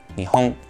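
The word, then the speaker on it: 日本: poquito más avanzado pero escucha la diferencia dos objetos cilíndricos nihon Japón nión una vez más nión nión nihon nihon sí esto no tiene que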